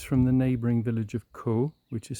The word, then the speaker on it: Caux: You're just a few kilometers from the neighboring village of Caux, which is spelled C A U X.